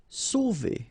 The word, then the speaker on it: sauver: Sauver. Okay, remember when you combine A and U, you get the sound O. So really like the letter O.